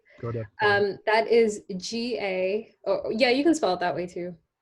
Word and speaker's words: Gaudapada: Oh, the philosopher, Yeah, Gaudapada. Goda. That is G-A, oh, yeah, you can spell it that way too.